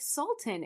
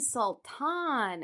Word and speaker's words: Sultan: what are you saying I was like Sultan and she's like oh you mean sulan and I'm like oh that's not how you say it like the one word